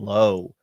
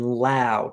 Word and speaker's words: Lowe: We're going to be going to Brandon Lowe, and we're going to be going specifically to his walks market here. Yes. Brendan Lau, Tom, you got to get your baseball pronunciation right here.